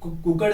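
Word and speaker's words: cooked: कुक का second form कुक्ड होगा, third form कुक्ड होगा। क्या प्रोनाउंस करेंगे, कुकड नहीं बोलेंगे, कुक्ड, कुक्ड, कुक second form कुक्ड, third form कुक्ड।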